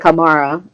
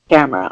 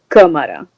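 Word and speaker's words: Câmara: It's, even though it looks like Camara, there is an accent in Portuguese in the first A, so it should be pronounced Camara. All right, if you want the official Brazilian pronunciation, it's Camara. The last part of the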